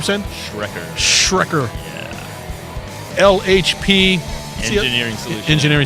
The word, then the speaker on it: Schrecker: Schrecker.